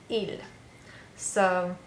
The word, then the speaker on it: ils: So even though I have an S, just like when we say nous and vous, we don't pronounce the letter on the end. So it's just the sound, il. So il is a boy.